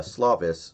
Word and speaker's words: Slovis: little bit by uh slavis slovis i think is how you say it's slovis so i don't know